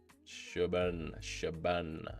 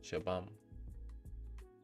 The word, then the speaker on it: Shabam: Shaban. Is Shaban. Am I pronouncing it right? Shaban. Shabam. Oh, it's M. I thought it was N. Shabam.